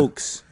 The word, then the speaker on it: heaux: Hoax is spelled the French way. Like the tale of Devereaux. Oh. The end of Roe. Like Bordeaux. Yeah.